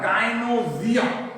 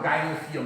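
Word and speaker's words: gynoecium: ई के ही कारण इसका उच्चारण होता है गायनोजियम। क्या उच्चारण है? गायनोजियम। या तुम बिहार में ईच एंड एवरीथिंग राउट चाहो तो गायनोसियम भी कर सकते हो।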